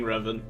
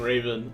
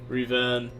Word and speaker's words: Revan: I thought I was saying Revan, but if I was saying Raven, I apologize. I totally just unequipped everything. The fluster, though. Oh, okay, my bad. Revan.